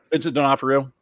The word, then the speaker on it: Vincent D'Onofrio: Vincent D'Onofrio.